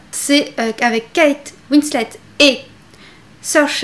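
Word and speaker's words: Saoirse: qu'avec kate winslet et search à rhône ain oui c'est comme ça que ça se prononce vous en prie trouver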